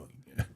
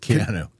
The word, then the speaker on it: Keanu: You know, it was it's it's a how do you say his first name? Canu. Canoa. That's the best. Keanu. Keanu. I used to call him Canoa.